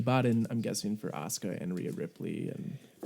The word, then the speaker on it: Asuka: It's pronounced Asuka.